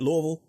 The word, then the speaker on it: Louisville: talking to David Lynch with Simon realy in Louisville Kentucky am I pronouncing it right David Louisville that is correct you got it I could